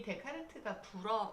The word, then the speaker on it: 데카르트: 그렇게 읽어야 되는데 이 데카르트가 프랑스 사람이죠. 그래서 불어에서는 ES를 발음을 안 해요.